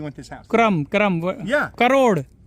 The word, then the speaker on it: crore: Crore. Oh, crore. Okay. Did I say it wrong? Yeah, he said wrong.